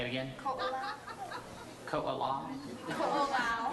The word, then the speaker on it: Ko'olau: Ko'olau. Ko'olau? Ko'olau. You can just say Kulau.